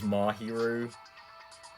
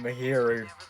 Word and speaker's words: Mahiru: at this point like i know it is mahiru but i just can't get out of the habit of saying mahiri i'm sure everyone who's beaten